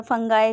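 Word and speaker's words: fungi: इसके बारे में पढ़ेंगे फंजा और फंगई जैसे भी प्रोनाउंस करते हैं क्योंकि साइंस है अ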